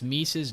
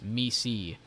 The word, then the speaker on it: Misi: Which, guys, when you pronounce Mise's name, it's not Mise, it's Misi. I learned that the long way. I took my time learning an amazing person's name. But that is how you say Misi's name. It's not Mise, it's Misi. You want to say Macy, you will get slapped.